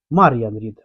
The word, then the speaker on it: Мар'ян Рід: Тільки прошу, будь ласка, вимовляйте моє ім'я з наголосом на перший склад. Мар'ян Рід, а не Мар'ян Рід.